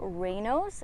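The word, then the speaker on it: Raynaud's: you've probably never heard of it one's called rayno's and it's spelled r-a-y-n-a-u-d-s so people mispronounce it all the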